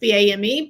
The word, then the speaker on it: Boehm: You said it rhymes with something. Bame, lame, tame, game.